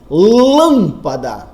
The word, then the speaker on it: lâmpada: Lâmpada, cuja sílaba tônica é o lã.